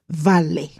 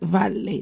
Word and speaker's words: vale: When you say hola, if you want to respond, I'm okay, you can say vale. Vale. Yes, vale, not val. Vale. So it's Spanish. So the V will be pronounced V.